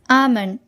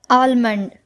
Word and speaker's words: almond: Yes, it is almond. It is not almond. We should say almond.